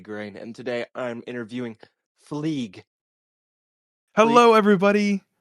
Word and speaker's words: Phleeg: I thought your name was pronounced Jezerice, and my name is Mm. pronounced Fleeg. But you just said Gezerice, and you called me Fleege.